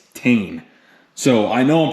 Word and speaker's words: Tein: actually called them cuz I used to call them ten it's not ten it's tan so I know I'm